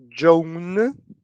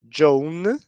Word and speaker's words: Joan: okay this name Jonah when we look at the name it's very similar to Portuguese but when we pronounce the name is a little different and this is very important here we have Joan and this is a